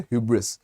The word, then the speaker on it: hubris: क्या है ठीक है आप इसको हब्रिस पढ़ रहे हो ठीक है HUBRIS এটার উচ্চারণ হইছে হিউব্রিস ঠিক আছে হুব্রিস নহয় হা হিউ উচ্চারণ বিলাক চাব হুব্রিস নহয় হাব্রিস নহয় ঠিক আছে হিউব্রিস HUB হিউব বুলি পঢ়ো জেনারেলি HUB লিখিলে হাব বুলি পঢ়া যায় কিন্তু ইয়াতে HUBRIS হিউব্রিস বুলি পঢ়া যাব स्नेहा पकड़ लो इस